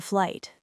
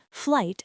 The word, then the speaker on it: flight: I would like to book a flight. Deep dive. I' is the common contraction. Book here is a verb meaning to reserve. Flight has a silent gh. Flight practice.